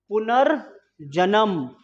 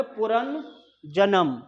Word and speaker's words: पुनर्जन्म: उच्चारण इसका होता है पहले पुनर जन्म तो पुनर बोलेंगे तो ये यहां पर आना चाहिए यह वाला तो पुन हो गया पुन अगर इसके अकॉर्डिंग बोलेंगे पुन जन्म गलत भैया भरत सनाना का